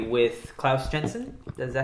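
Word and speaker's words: Klaus Janson: With Brian Azzarello, they've been working on Batman: The Dark Knight 3 with Klaus Jensen.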